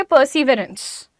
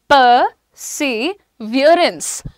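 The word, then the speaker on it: perseverance: अब इसको आप सिंपल देखोगे तो आप बोलोगे परसिवरेंस. परसिवरेंस, परसिवरेंस बोलते हैं ना, लेकिन इसका प्रोनाउंसिएशन इज परसिवियरेंस.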